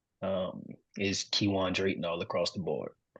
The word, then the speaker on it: Kewaan: r a y t o n um is kiwan Dron all across the board now now hold